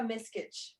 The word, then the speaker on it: Miskich: And Miss or Miss? How do you say it? It's Miskich.